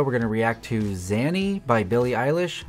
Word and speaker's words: Xanny: In today's video, we're going to react to Xanny by Billie Eilish. I'm assuming the X is pronounced as a Z.